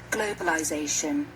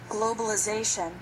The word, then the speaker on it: globalization: it's pronounced globalize but British English continues this same pronunciation in the noun form globalization and American English changes the sound of the letter i globalization finally the T